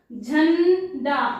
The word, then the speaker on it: झंडा: बिंदु अम का उच्चार अम की जो बिंदु हो हो है उसका मतलब आधा मा या आधा ना होता है इसका उच्चारण हम आधे मा या आधा ना का उच्चारण करने का के लिए करते हैं जैसे मैंने लिखा यहां अम की मात्रा झंडा ना का उच्चार आ रहा है झ ऐसे झ आधा न ड झंडा है ना तो इस ना